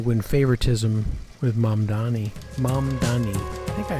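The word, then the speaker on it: Mamdani: Mom Donnie. I think I said his name wrong in the past. Mom Dani.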